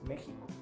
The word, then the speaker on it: México: Y esa es la misma pronunciación que tenemos en el nombre de nuestro país, México. México se escribe con X, pero se pronuncia como lo que hoy día pronunciamos como J.